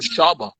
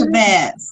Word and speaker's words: Shabazz: I was about to call him Shaba. Shaba. No, it's Shabazz.